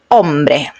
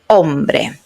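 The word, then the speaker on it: hombre: So, ombre ombre remember that when we had the h at the beginning there is not sound in Spanish.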